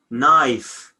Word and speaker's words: knife: Knife, K is silent at the end.